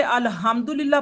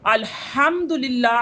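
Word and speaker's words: الحمد لله: तो ये सारा नमाज का नहीं है, अल्हम्दुलिल्लाह नहीं होता, अल्हम्दुलिल्लाह क्या होता है, अलहम, हा को प्रोनाउंस करना होता है, ना के हा को।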